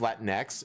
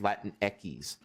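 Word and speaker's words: Latinx: that's the thing like they say that it's pronounced Latin X it's like if you know the Spanish language it be it's actually pronounced Latin Eis CU you don't pronounce x x in Spanish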